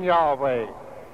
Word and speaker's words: Yahweh: But within the last century, Bible scholars have preferred the pronunciation Yahweh as more correct.